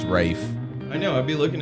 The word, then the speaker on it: Ralph: ralph finds right wraith it's ralph but it's rafe i know i'd be